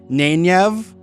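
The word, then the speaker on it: Nynaeve: you have to say it, and that is Nenyev.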